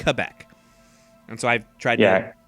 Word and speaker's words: Quebec: second lowest all righty how do uh Canadians pronounce Quebec uh anyone who knows how to say it says Quebec uh my parents and others have been known to say Quebec much to my sugrin yeah I always T